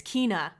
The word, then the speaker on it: Kena: I guess officially now I can say, is it Ken? I always pronounce this incorrectly. Kena? Kenya? Kena? Kena. That's it. It's Kena.